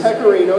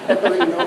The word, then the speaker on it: pecorino: Okay, this is pecorino cheese, which is a how do you say that? Pecorino.